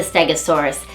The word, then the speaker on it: Stegosaurus: Stegosaurus.